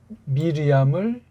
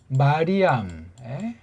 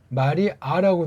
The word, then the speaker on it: 미리암: 이걸 이제 헬란 말투로 이제 그러다 보니까 미리암을 마리암 또는 뭐 마리아 이렇게 해가지고, 이게 마리암이 이게 구약 발음을 아람어식으로 했는데 이걸 마리아라고 돼가지고 이게 이방사상과 이게 선이 다 있는 잘못된 이름이에요.